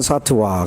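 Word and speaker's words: सत्त्व: 타는 유정이 라는 뜻입니다 요즘 발음은 사트 와 그래서 차트와 사투 와 만약 당시를 가고 휴점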